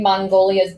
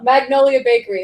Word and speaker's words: Magnolia Bakery: That to me, like it's screaming Mongolia's Bakery, here in New York.